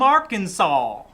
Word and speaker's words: Arkansas: wind blew down from arkansas one thing to notice arkansas has an s on the end but you don't pronounce it arkansas it skipped the